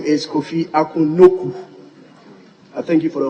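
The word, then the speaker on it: Nokoe: Right Honorable Speaker, just like Kujo became Kojo, it was supposed to be N-O-K-U traditionally, but the spelling has differentiated a little to K-O-E, but the pronunciation is N-O-K-U, Noku. Noku.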